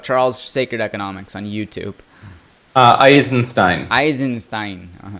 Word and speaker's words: Eisenstein: I don't know how you pronounce his last name. Essenstein. Sacred Economics. Look up Charles Sacred Economics on YouTube. Eisenstein.